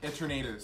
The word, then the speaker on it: Eternatus: Pronounce the Pokemon again. Eternatus.